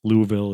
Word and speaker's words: Louisville: And- Louisville is like the correct, according to the people that live there, pronunciation.